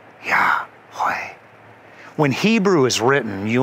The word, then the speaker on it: Yahweh: And this unspeakable name for God is the word that we pronounce as Yahweh. Yahweh.